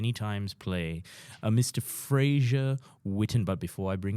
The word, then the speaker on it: Fraser: So it's Fraser.